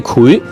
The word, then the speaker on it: 檜: 嗱，發音係秦檜嘅檜，油炸檜。但係因為檜呢個字嘅發音，你一發出嚟嘅時候呢，你嘅下嘴唇需要嘟埋個嘴，檜。